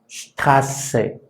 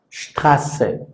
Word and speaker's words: Straße: Por lo tanto, esta letra, que decíamos se ve rara, pues en cuanto a valor fonético es como si se tratara de doble S. Por ejemplo, esta palabra sonaría Straße, Straße, que es calle.